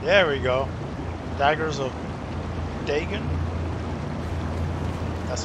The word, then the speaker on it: Dagon: Daggers of Dagon. That's how you pronounce that, guys.